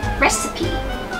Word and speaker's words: recipe: ไง ดี เห็น ยัง recipe recipe recipe นะ คะ อ่า ไม่ อ่าน ว่า receive หรือ อะไร อย่าง ง นี้ นะ คะ recipe นะ